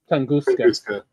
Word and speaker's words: Tunguska: How do you pronounce the is it Tunguska? Tunguska.